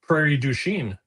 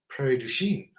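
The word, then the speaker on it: Prairie du Chien: Do you know how to pronounce the name of the 35 miles from Because you're from the area? Prairie. Prairie Duchene. Prairie Duchene. Yeah. Prairie Duchene. Like a city. Prairie Duchene.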